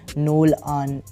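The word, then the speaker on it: Nolan: हालांकि नोलन की pronunciation Viltrum पर थोड़ी अलग सी है, नोल आन, इस तरह से।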